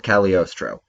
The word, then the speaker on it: Cagliostro: film the castle of cagliostro which we pronounced incorrectly on the last episode because we're bad Italians the G is silent as always before we get into